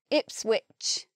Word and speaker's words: Ipswich: Here we've got which, and here we've got ridge. They're spelt the same, but one comes out with the j sound and one comes out with the ch sound. Ipswich, Norwich. Spelt the same, sound different.